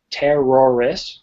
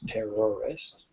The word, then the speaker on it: terrorist: they are very different terrorist terrorist there's three syllables taurus is two syllables tor est okay all right let's